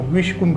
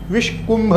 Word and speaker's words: विष्कुम्भ: विषकुंभ योग भी कहते विषकुंभ विषक नहीं विषकुंभ योग दूसरा योग है प्रीति